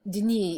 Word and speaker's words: Denis: So in this church are also the relics of Saint Denis. Saint Denis..you say it "De-knee" if you're using a French accent...